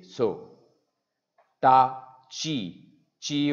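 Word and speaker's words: ち: soo say so tah chi chi o toilet in here it's not T but a Chi su this is stuff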